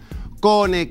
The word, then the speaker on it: Kone: Kone, Kione o Kune, no importa cómo lo pronuncien, no es aire acondicionado o calefacción, es Climatechnic, con un clic al alcance de tu mano.